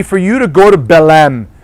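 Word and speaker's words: Belém: you to go to belem right Belen that's the proper way of pronouncing it I know my colleagues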